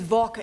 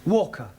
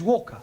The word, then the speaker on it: Walker: more all that Mrs vka is keeping me busy Anna do this Anna do that she is a slave driver at Mrs vka Walker what w is pronounced W your employer's name is Walker yeah vka do you